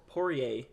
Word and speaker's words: Poirier: round the other fighter justin poirey poirier yeah that's how you say it dustin poirier is